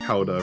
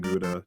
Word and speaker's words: Gouda: He's saying Red House pronounced to be pronounced more like Howda rather than Gouda.